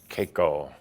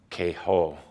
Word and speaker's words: Kaiko: The word is Kaiko, also spelled or pronounced Keho.